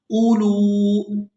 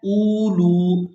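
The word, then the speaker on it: أولو: तो बाद लोग इस हमजा को इस वाव की वजह से खींच कर अदा कर देते हैं। तो यहाँ पर हमने हमजा को बगैर खींचे ही अदा करना है क्योंकि ये वाव साइलेंट ही रहेगी, इसको हम अदा नहीं करेंगे। उलू, और गलत तिलावत इसकी इस तरह से की जाती है उलू, तो ये मजबूल तरीका है।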